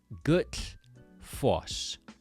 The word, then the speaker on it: Gullfoss: You want to have the tongue hitting the back of your top front teeth and air is coming out the side of your mouth.